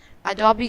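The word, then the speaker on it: Adobe: Next brand है, इसे ज़्यादातर लोग एडोब कहते हैं, इसे एडोब नहीं, अडोबी कहते हैं।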